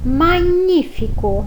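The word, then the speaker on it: magnifico: E magnífico, que no mesmo caso de significa, tem a mesma grafia, mas a pronúncia fica magnífico. Em palavras que tenham 2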